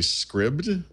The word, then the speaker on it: Scribd: is a service called I want to say scribed yeah there no that works okay yeah normally I would say Scribd um which is essentially